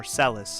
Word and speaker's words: Celes: It's Celes. At least that's how I say it. And what does Celes What What song represents Celes or Seles, however you would like to pronounce it.